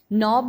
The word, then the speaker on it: knob: नॉब में letter के silent letter, नो में के साइलेंट लेटर, रिस्ट में डब्ल्यू, रॉन्ग में डब्ल्यू।